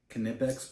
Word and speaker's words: Knipex: me in the comments this is knipex pliers that's how you pronounce it I'm fairly certain